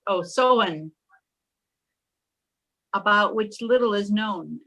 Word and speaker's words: Samhain: pagan festival of ancient Ireland known as Samhain, pronounced Samhain, about which little is known.